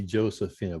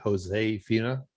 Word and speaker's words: Josefina: Now, I say Josephina, but you're telling me it's like Josefina. That's how you pronounce it. Yeah, you pronounce it Josefina.